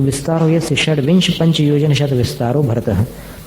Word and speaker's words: षड्विंश: षड्विंशत नहीं, षड्विंश, षड्विंश पाठ है वो, विंशति के ती का लोप हो गया है और वो ती चलता ही है उसमें।